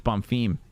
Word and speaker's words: Bomfim: __ ] name wrong i'm calling bomfin it's bomb theme let's get the carnage